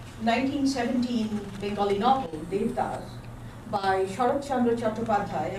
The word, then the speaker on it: Sarat Chandra Chattopadhyay: So I will begin with the 1917 Bengali novel, Devdas, by Sarat Chandra Chattopadhyay. I'm pronouncing it in the Bengali way.